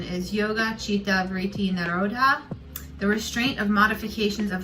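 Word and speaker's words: yogaś citta vṛtti nirodhaḥ: And it is the Sanskrit pronunciation is yoga, chitta, vritti, nirodhah.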